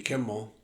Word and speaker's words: Kimmel: see I saw this little clip on Jimmy Kimmel I pronounced the name right this time Kimmel um